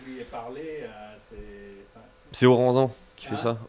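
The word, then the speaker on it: Aurensan: C'est Oranzan. Qui fait ça, Oranzan. Oranzan, ouais.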